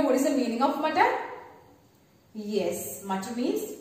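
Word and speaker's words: मटर: So, ma plus Ta plus R, mutter. Say with me, mutter. One more time, mutter. And do you know what is the meaning of mutter?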